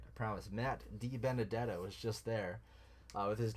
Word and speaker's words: DiBenedetto: death I'll say it right I promise Matt DiBenedetto was just there with his new team Team